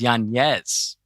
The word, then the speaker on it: Yanez: And I'm sorry, how to pronounce his name is Yanez.